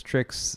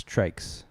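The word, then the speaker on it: TRYX: I've been referring to them as Tricks for the first half of my coverage because I didn't realize I was mispronouncing it. I was told at the booth it's Trikes.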